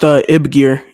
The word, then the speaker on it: YBGIR: Now you have recently dropped your album, YBGIR, and I will It's definitely pronounced Ibgir.